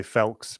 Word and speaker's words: Foulkes: It's Foulkes, though. Like, that's all, folks.